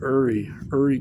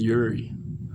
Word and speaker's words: Uri: Puharich pronounces his name Uri Geller, which is kind of weird. Everybody else says Uri.